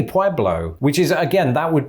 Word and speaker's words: Pueblo: okay and let's check it we just say pueblo when the steel mill what what what why stop talking what what they say pueblo which is again that would be the sort